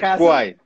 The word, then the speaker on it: Kwai: perfecto perfecto cuál es tal cual no se pronuncia guay soy de y de hecho parte de la